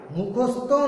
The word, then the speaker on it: মুখস্থ: হ্যাঁ স্যার মুখস্থ করেছি, কিন্তু ত আসছে, উচ্চারণ ত কিন্তু নয়, উচ্চারণ হবে থ।